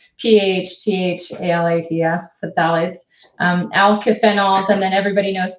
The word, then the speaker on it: phthalates: And so, yes, plastics play a big role, but definitely phthalates, which is really hard to pronounce, but it's P-H-T-H-A-L-A-T-S, phthalates, alkyphenols, and then everybody knows BPA or bisphenol A.